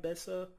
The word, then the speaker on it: Besa: research and I read that um am I pronouncing it right Bessa yeah okay um uh Bessa is apparently a